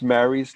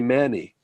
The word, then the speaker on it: Mary: You can pronounce Mary's name as Manny. You can say Mary, and you can also say Manny. Manny is the Naskapi way to say Mary.